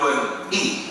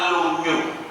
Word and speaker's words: Lunyu: Lungi itu kalau bahasa Mandarinnya lun-i. Kalau orang belum bisa baca, bacanya lunyu.